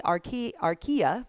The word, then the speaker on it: archaea: We have ourselves a bacteria, we have ourselves a archaea, is how you say it, and then eukarya.